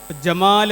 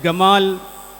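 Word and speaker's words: جمال: ഉണ്ടല്ലോ ഇന്നും നിലവിൽ കാണാം ജമാൽ എന്ന് പറയുന്നത് ഗമാൽ ജുമുഅ ഗുമുഅ എന്നൊക്കെ ഉപയോഗിക്കുന്ന ഇന്ന് സംസാരിക്കുന്ന അറബികളും ഉണ്ട് ഈജിപ്റ്റിലൊക്കെ ആ രൂപത്തിലുള്ള ഉച്ചാരണങ്ങൾ ഉണ്ട് ഇതുപോലെതന്നെ അറബിയിൽ വാവ് അവസാനത്തിൽ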